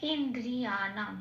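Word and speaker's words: ইন্দ্রিয়াণাং: নয় হসন্ত লেগে গেছে। মানে নটা অন অর্থন হিসেবে উচ্চারিত হবে। তার মানে পূর্ণরূপে ন বলে আর উচ্চারণ করতে পারবো না। তাকে এই আগের অক্ষর হসের সাথে জুড়ে উচ্চারণ করতে হবে ইন এরকম আর দ এর আগে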